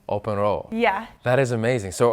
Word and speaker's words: Åbenrå: So how do you pronounce the name of your town? Åbenrå. One more time. Åbenrå. Åbenrå.